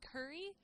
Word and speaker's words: Kuri: The thing that I saw that I thought was really cute and adorable and very cool was Curry. Curry as in Curry, but it's spelled Kuri.